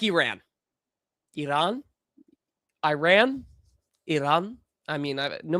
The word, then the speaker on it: Iran: say its name, because if you try and say it in American, because it is American, it's Iran. If you want to say it like correct, it's Iran. If you want to say it like kind of a middle ground, it's like Iran or Iran. Like I say Iran because that way I'm not pissing off either side, but I'm getting it wrong on both sides.